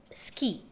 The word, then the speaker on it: ski: So what you have to note here is that contrast in k, in key and ski. Key, when you pronounce it, you can find an aspirated stop there, but in ski it is unaspirated.